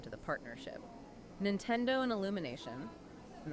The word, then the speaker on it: Illumination: Nintendo and Illumination, and that's pronounced Illumi, A-Y, by the way, they finally stopped trying to force video games into traditional Hollywood narrative structures.